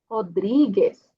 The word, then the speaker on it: Rodríguez: Logo aqui temos uma R no início, vai ser como J, Rodrigues.